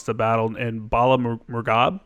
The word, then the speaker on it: Bala Murghab: I feel like I'm going to mispronounce the battle in Bala Murghab. Bala Murghab.